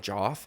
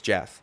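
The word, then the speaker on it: Geoff: a Fighter's name correctly if John anik is not calling him Joff his name's Jeff okay end of discussion he prefaced it by saying that he had a very good performance against Jeff Neal but that he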